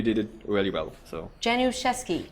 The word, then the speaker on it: Januszewski: So Januszewski. Januszewski. Janu, I'm never going to pronounce that right.